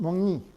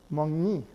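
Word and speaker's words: 먹니: Or other example here, very simple, is it mongni? Are you eating? Notice that the Keough, the K, is pronounced eng in front of the nasal, mongni.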